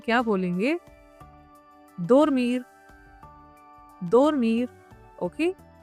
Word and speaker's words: dormir: dormir dormir।